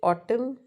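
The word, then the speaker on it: autumn: फिर ऑटम, sorry, ऑटम, ऑटम, एन तो इसमें साइलेंट है, तो यहाँ पे क्या, सॉरी, ऑटम, ऑटम नहीं है ना।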